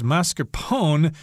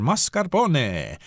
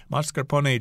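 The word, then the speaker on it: mascarpone: the end silent but I believe in Italian you should pronounce the E there mascaron mascaron cheese and then you'll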